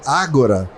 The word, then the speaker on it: Ahgora: Porque Agora, que é a pronúncia correta com H, é uma ambiguidade agora no conceito de Ágora.